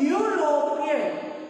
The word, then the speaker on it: European: Okay, whenever we pronounce European, whenever we spell European, how it spell? How you spell U, Y, O, U? So the sound of consonant Y is coming here.